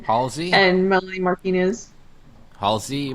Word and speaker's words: Halsey: Halsey?